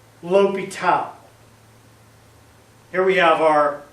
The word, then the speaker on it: L'Hôpital: English speaker, to be L. Hospital's rule. That is not the case at all. This guy is French, and his name is pronounced L'Hôpital. Here we have our L'Hôpital.